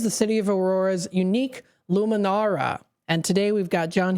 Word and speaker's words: Lumenaura: Was it Luminara? Is that right? Or Luminara. That's correct. Luminora. Luminora.